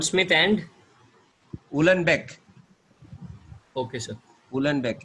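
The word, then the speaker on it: Uhlenbeck: और sir Gond Smith and, उलनबेक, okay sir, उलनबेक, H silent रहता है, उलनबेक, ओके सर, इट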